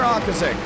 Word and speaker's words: Okrasik: That is Connor Ortzik. Connor Ortzik. Okrasik. Connor Okrasik. That's what I believe it is.